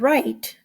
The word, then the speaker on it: write: word is right now if you see the word right it also has a long eye and it has a silent e well again we're gonna